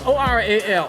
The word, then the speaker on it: Oral: is -R-A-L, oral. Oh, oral, but you say. I say -Ra-L. -Ra-L.